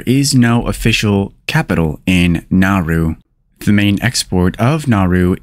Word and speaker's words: Nauru: many more today's country of the day is nauru nauru is a country in Oceana nauru is the least visited country in the world there is no official capital in nauru the main export of nauru is phosphate the